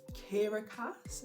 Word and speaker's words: Kiera Cass: read in january is the selection series by kiera cass that's how you say her name and i'm